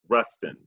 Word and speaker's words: Rustin: as in David and then Rustin the word the words rust and in Rustin okay thing people people credit dr.